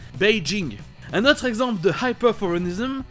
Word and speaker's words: Beijing: D'ailleurs, pour ce dernier, c'est ce qu'on appelle un hyperforeignism. C'est quand on change la prononciation d'un mot étranger. D'ailleurs, c'est dommage parce qu'ici, si on utilise la prononciation habituelle du J, c'est-à-dire je, on est plus proche de la prononciation chinoise, Beijing.